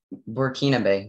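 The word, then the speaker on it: Burkinabe: hello hello your word is werekinabe murkinabe may have the definition burkina bay means relating to the landlocked republic in western africa or its inhabitants burkina bay may have the language of origin please working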